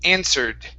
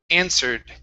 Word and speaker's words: answered: In this word, the W is not pronounced, okay, and we do have an ed ending here. So instead of answered, it's answered, answered. Answered.